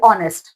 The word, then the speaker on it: honest: क्योंकि vowel sound, देखो जब ऑनेस्ट का प्रोनाउंसिएशन आप करोगे तो क्या होगा, ऑनेस्ट, ओ का साउंड आ रहा है, तो ओ क्या है, वॉवल है, ठीक है।